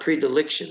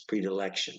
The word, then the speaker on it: predilection: a preference for it so predilection it's not prediliction it's predilection make sure you pronounce that right something that is Sumptuous